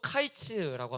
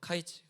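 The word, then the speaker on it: קַיִץ: 히브리어로 카이츠라고 합니다. 카이츠. 근데이 끝 우리가 아는 그 끝 끝이라는 끝났다라는이 끝이라는 단어를 또 히브리어로 하면은 캐츠라고 이야기를 해요. 캐츠. 그니까이 둘의 발음이 굉장히 유사하죠. 카이츠, 캐츠라는 거.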